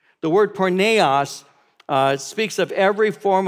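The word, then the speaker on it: πορνεία: Greek word and it's the Greek word is pronounce the word porneia oz speaks of every form of sexual practice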